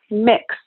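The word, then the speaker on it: Mx: They say mix Alex. Pronounced like the word mix, like Chex Mix, kind of cool.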